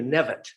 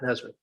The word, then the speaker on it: Nevitt: It's Rita Nevitt, not Nesbit.